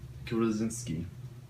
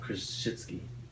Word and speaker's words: Krzyzewski: Mike Krasinski. It's Mike Krzyzewski.